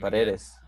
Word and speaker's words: Paredes: Paredes.